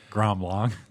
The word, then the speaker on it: Grand Blanc: okay go habs that's that's how they say it in gram long yeah grand blanc yeah there you go